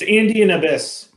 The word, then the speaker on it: Andean Abyss: How do we pronounce this? It's Andean Abyss.